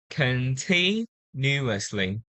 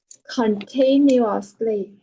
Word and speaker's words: continuously: Yes, the stress is on the second syllable. Continuously. Continuously.